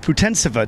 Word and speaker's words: Putintseva: joined by yuliya Putin Putin sava today Yulia you your name is pronounced futon sofa isn't that right yeah it's right you